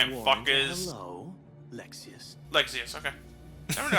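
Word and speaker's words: Lexaeus: the weights that giant ISX lexius okay I don't know how to pronounce that right I said Lexus uh you pronounced his name correctly ear in earlier parts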